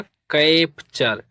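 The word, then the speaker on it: capture: सी ए पी टी यू आर ई तो सी ए पी इसे पढ़ेंगे कैप। क्या पढ़ेंगे? कैप और टी यू आर ई इसे पढ़ते हैं चर। तो ये हो जाएगा कैप्चर।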